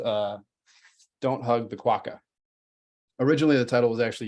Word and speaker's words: quokka: it shows you that quack is pronounced quokka as the way I'm saying it but in North America a lot of people say quoka so you're not necessarily wrong if you say that it's just it's a